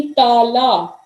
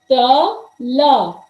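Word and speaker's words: تالا: जबकि मैं बोलूंगी ताला, ताला, तो इसमें अलिफ की आवाज, आपको ये अलिफ आखिर में नजर आ रहा है, ये वाला अलिफ लिखा हुआ है। जब मैं इसको बोल रही हूँ, प्रोनाउंस कर रही हूँ, तो आपने गौर करना है कि मेरी आवाज में आखिर में उठाव आ रहा है, थोड़ा लंबी आवाज जा रही है।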